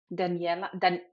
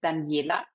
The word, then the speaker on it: Danijela: Although I love the Spanish pronunciation, it's Danijela. So it's in German, it's Danijela. In Serbian, it's Danijela.